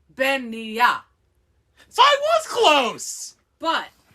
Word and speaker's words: Beanighe: I'm like, it sounds like they're mixing the word beignet, like the pastry, and the word veneer.